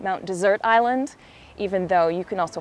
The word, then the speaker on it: Mount Desert Island: A little nod towards the French pronunciation, as many people here today call it Mount Desert Island, even though you can also call it Mount Desert Island.